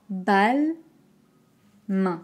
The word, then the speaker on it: Balmain: grand la bouche à bâle main c'est une voyelle nasale donc attention à bien utiliser l'air qui sort d'une main balme la deuxième et